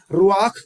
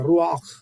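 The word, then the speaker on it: רוח: Okay, रुआख बोलते हैं, रुआख। जो इब्रानी भाषा का जो प्रोनाउंसिएशन कुछ डिफरेंट है, जैसे अरबी भाषा बोला जाता है, अरबिक बोलता है, वैसे ही है।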